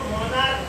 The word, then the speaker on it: monarch: ये लिखा हुआ है MONARCH, इसको हम लिखा CH है, इसको मोनार्क पढ़ा जाता है, मोनार्क पढ़ा जाएगा।